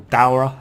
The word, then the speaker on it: Daora: Kushala Daora, or Daura as it's pronounced in this game.